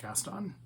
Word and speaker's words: Caston: I've named him Gaston Mohair, but his name is spelled Caston, but it's pronounced Gaston. Like from Beauty and the Beast. Mm-hmm. Gaston. But Caston. Right. It's Gaston Mohair, but spelled with a C.